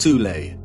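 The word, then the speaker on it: Thule: society within Germany called the th Society sometimes alternatively pronounced tulle that had subactions within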